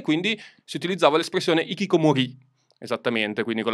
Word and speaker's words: hikikomori: sparivano dal nulla e quindi si utilizzava l'espressione hikikomori esattamente quindi con l'accento sulla i per definire queste persone che